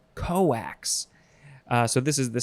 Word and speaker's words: cokes: there next is so this one is spelled the same way cokes but it is pronounced coax coax uh so this is